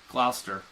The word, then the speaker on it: Gloucester: everybody in the area, like you've got Woburn, Manchester, Lynn, Malden, Reading, Beverly, That's Gloucester. Gloucester. I'm telling you, that's how it's pronounced.